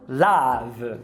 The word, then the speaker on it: love: E a palavra love também é com carrot. Esse aqui, ó, fácil. Quando o schwa for tônico, ele vira um carrot. Some, love.